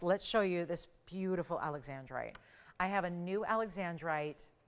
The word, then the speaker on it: Alexandrite: to point out that it's called Alexandrite, not Alexandrite, because it seems to be mispronounced all the time. And yes, Alexander was the Tsar for which this was named, but it's Alexandrite.